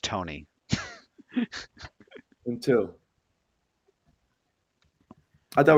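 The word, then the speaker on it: Toney: Jeff, his name Do is you know pronounced Tony.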